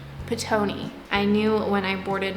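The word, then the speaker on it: Ptoughneigh: I guess you would say quartet, including their bunny Twitch, which Brian has renamed to Tony, but it's not spelled T-O-N-Y, it's spelled P-T-O-U-G-H-N-E-I-G-H. Petoni.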